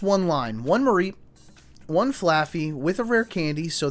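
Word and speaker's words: Flaaffy: I'm going to go a Rare Candy and a Laffy Taffy. Is it Laffy? How do you spell it? Is it Laffy? It is. Oh, it's Flaffy.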